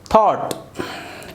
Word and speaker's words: thought: यहाँ पर देखेंगे तो TH थॉट, मैंने देखिए थॉट, यहाँ पर ये UGH ये पूरा साइलेंट हुआ।